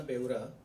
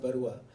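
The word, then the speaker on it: Beura: In fact मैं एक थोड़ा सा correction, it's बेउरा नॉट बरुआ, बरुआ लोग असम से होते हैं, मैं उड़ीसा से हूँ, तो बट बेउरा जनरली क्या होता है कि मैं लोगों को जब कोई बेउरा प्रोनाउंस करने जाता तो बेउरा बोलता है, तो मैं उनको अतावस कर देता हूँ। तो इट्स एक्चुअली बेउरा, बेउरा, और मैं राखी सावंत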